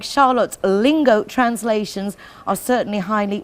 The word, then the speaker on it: Charlotte: Well, I mean, there is a Charlotte, it's pronounced differently in Sweden. Okay. It's called Charlotte.